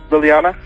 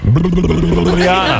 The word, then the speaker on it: Liliana: Liliana? No, you're not pronouncing that correctly. Yes, I have. Liliana. That's it. That's how that's pronounced.